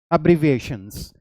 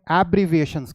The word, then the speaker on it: abbreviations: इसे बहुत लोग एब्रीविएशंस कहते हैं। ये एब्रीविएशंस नहीं है, ये अब्रीविएशंस है। ये एप्पल वाला ए साउंड नहीं है, ये अमेरिका वाला ए साउंड है, तो हम इसे अब्रीविएशंस कहते हैं।